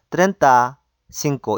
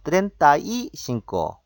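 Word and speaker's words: treinta y cinco: 30부터 35, 36 이렇게 할 때는 트렌타 신고 이렇게 하는 것이 아니고 발음상 중간에 이를 붙여가지고 트렌타이 신고, 꽈렌타이 신고, 신quenta이 신고 이렇게 중간에 30부터는 그 뒤에 숫자랑 붙일 때 중간에 이를 넣는다 기억하시면 좋겠습니다.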